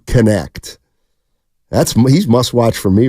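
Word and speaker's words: Knecht: dude in the country let me say it right it's Dalton connect that's he's mustat for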